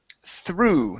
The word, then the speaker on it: through: go to the word through now the GH at the end of this word does not make a sound so instead of th it's through through okay one more time no